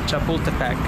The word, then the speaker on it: Chapultepec: how to say it bienvenido a bus Kade Chapultepec my mission now is to find that Lake